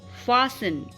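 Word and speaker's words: fasten: हो फिर टी हो, तो तब भी टी साइलेंट हो जाता है कई वर्ड्स में, जैसे कि क्रिसमस, लिसन, फासन, मॉइशन।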